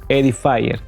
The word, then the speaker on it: Edifier: Aquí tenemos un parlantito pequeño, vean cuánto es pequeño, de la marca Edifier, o como se pronuncia en realidad, Edifier.